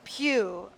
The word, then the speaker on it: Pugh: are you they're like aren't they pronounced the same Pew yeah maybe he's puth